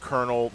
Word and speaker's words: colonel: but why do we in an English language pronounced kernel the way it is given the way it's